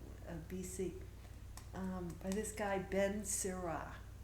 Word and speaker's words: Sirach: I looked it up, how to pronounce it. The little lady with the lips said, Sirach, Sirach, Sirach.